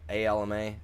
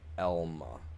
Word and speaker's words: Alma: A L M A. And it's it's pronounced Elma, not Alma.